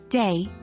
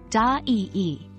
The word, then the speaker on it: day: The I sound is a diphthong in English, but in Portuguese, vowels are typically pronounced separately. So, a Portuguese speaker might pronounce day more like da-ee-ee.